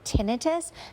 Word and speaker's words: tinnitus: community we pronounce it tinitus because the pronunciation itis assumes that that's the disease tinitus is usually the symptom